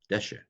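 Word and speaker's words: דֶּשֶׁא: the earth sprout grass Desha it's called a cigarette by the way when you have to see goals the the accent of a Sehgal that goes on the first syllable normally accents and Hebrews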